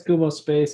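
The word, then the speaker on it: Kumospace: How do you pronounce it? Yeah, it's Kumo space.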